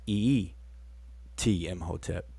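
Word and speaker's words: em hotep: and it's usually pronounced ee m hotep so you kind of double up on that first e so e t in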